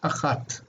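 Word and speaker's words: אחת: If the accent, the stress is not marked, it's on the last syllable, so it's achat.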